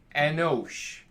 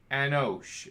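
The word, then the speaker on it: אנוש: the course they read this way and it's pronounced anosh anosh and it looks like this and it's man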